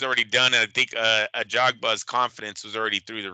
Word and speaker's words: Ajagba: Ajagba? A Jogba, yeah, yeah. I thought Ajagba. it was a Hogba, but no, I've heard him pronounce it a Jogba a few times, so I'm gonna Okay.